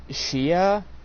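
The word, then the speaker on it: Tchia: Sinar goodbye Volcano High Shia I think the T might be silent t c h i a uh ter uh Teran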